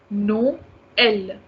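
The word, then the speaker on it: Noël: the ear vowels separately for example the first one no l so we are having two vowels here o and o so over second vowel we are having the three it means we need to pronounce them separately no l we are giving the sound to o we are also giving the sound to uh no el noel but when you have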